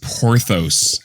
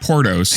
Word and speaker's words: Porthos: from eating all that it's pronounced porthos porthos not portos he saw a dog